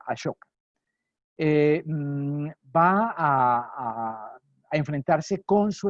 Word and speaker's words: Ashoka: Ashoka se escribe en realidad Ashoka, A-S-O-K-A, Ashoka, como suena, digamos Ashoka, se puede escribir con S-H y normalmente se pronuncia Ashoka.